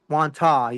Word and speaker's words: Wantagh: Wantagh. You can't pronounce the G, guys.